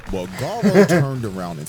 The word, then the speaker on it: Garou: But it's so Garou.